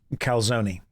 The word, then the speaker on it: calzone: It's spelled Kelzone. It's pronounced calzone.